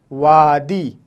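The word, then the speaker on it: وادی: है उर्दू ज़बान में, अगर किसी लफ्ज़ में शुरू में व या वा आए तो उसका इस्तेमाल इस तरीके से होगा, वादी, वाव अलिफ दाल ये, वादी, वादी।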